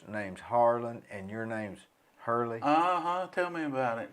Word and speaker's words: Hurley: time because i have i've been called harlan and harlow and harley and and you spell it with the e-y h-e-r-l-e-l-e-y see on my